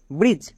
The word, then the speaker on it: ব্রিজ: একই রকমভাবে বি আর আই ডিজিই ব্রিজ, সি এ DGE catch, N এ ডিজিই ল্যাজ।